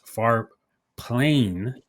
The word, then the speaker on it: Farplane: Everybody should check it out at Farplane AI. Did I say it right this time? What did I say last Yeah, time? yeah. Far plane. Like you ever played Final Fantasy X?